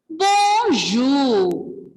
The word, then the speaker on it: bonjour: And to greet your teachers, greet elders, you have to use bonjour. Bonjour. Bonjour. Bonjour here. For bonjour, ending letter R will be silent.